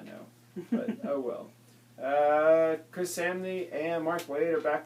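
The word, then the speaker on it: Samnee: Chris Samney and Mark Waid are back with Daredevil. Somni, it rhymes with Omni.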